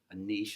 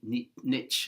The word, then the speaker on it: niche: apprehension about, well, if I have a niche or niche, I think as Americans say, that I'm limiting myself as to where I can work.